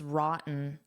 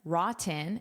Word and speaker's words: rotten: So first of all, notice that pronunciation. I can say rotten rotten and pronounce those t's or I can use a glottle stop which sounds like rotten rotten which native speakers often do.